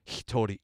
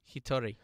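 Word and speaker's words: 一人: So in other words, the old Japanese word for alone is hitori. Hitori. And that's how they decide to pronounce this combination of Ichihito, Ichibito, okay. right? Hitori ja something something. Ichinin.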